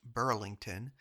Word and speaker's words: Bridlington: It was at Bridlington, which I'm just now learning is pronounced Burlington, that one of the